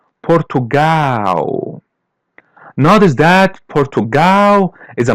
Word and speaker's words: Portugal: As you see the L is pronounced as W. Portugal.